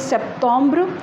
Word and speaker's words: Septembre: So Septembre, Septembre, and the pronunciation is Septembre.